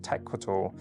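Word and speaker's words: Tecuatl: The collection is named after Rick Owens' grandmother, mixed maiden name, pronounced Tecualt.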